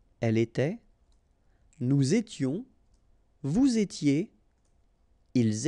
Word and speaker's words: était: Remember, final S, here, here, final T, and then here, and T. You don't pronounce them. So you will get était, okay, for all these forms, okay?